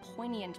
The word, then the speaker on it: poignant: if the artist had condensed history into one poignant but sorrowful image proun po depicts a Generations